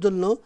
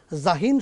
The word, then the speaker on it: জাহিন: সুতরাং ইংলিশ উচ্চারণের সঙ্গে মিলানোর জন্য জেন, জেন বলা ঠিক হবে না। জাহিন সুন্দর করে জাহিন বলবেন, জাইন বলবেন, জাহিন বলবেন, জেন, জেন, জিন, জিন এরকম বলা।